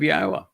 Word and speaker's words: Yahowah: He told us it was based on the verb haya which has two of the three letters in his name are in haya and no one is disputes how to pronounce haya and the book in